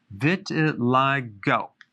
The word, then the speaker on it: vitiligo: i want to talk about vitiligo vitiligo that's how it's pronounced what is it it's a deep pigmentation